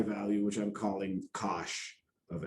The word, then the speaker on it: cosh: And as I mentioned, the hyperbolic cosine is pronounced as Cosh, not a word I just randomly made up, actual word from science.